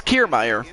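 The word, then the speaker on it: Kiermaier: coming to the plate kiermeier okay so it's kiermeier see i couldn't pronounce it correctly so it's kiermeier kiermeier was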